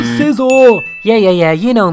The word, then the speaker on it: Scizor: we've went through this it's not pronounced Cel but Scizor yeah yeah yeah you